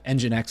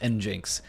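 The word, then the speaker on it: nginx: at home and you go around thinking that engine X is is pronounced n Jinx and that's the problem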